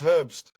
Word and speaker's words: Herbst: Well, and they pronounce my surname as Herbst. It's like the German part of it, so let me just correct it. It's Herbst.